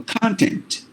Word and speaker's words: content: a word called uh content or content whatever you say um so that word has got two syllables if you stress is the beginning it is a noun for example content meaning staff matter material